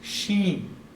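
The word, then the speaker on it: שׁ: If there's a dot or a dagesh on the right-hand side, it's sheen. If the dagesh is on the left-hand side, it's seen.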